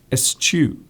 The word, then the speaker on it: eschew: So as you see it on the screen, that is literally how you say it. Eschew.